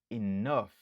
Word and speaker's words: enough: Li gen 2 syllabes. Nap accentué sous deuxième nan. Enough.